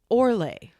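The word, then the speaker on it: orloj: It is called It's spelled O R L O J, but it's pronounced Orlay.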